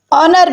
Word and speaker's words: honor: "honor " में H मौन है।